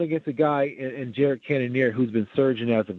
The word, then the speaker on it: Cannonier: And I want to say his name correctly, Cannonier. Cannonier, yeah, Jared Cannonier.